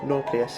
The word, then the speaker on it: nauplius: As to what it is, I'm not sure, but it does look like a nauplius, or nauplius if you want to pronounce it a different way, which is a kind of larval stage of a crustacean.